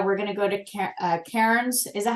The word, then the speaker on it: Cairns: So when we're in Australia, we're going to go to Cairns. Is that how you say it, Linda? Cans, like 2 Okay.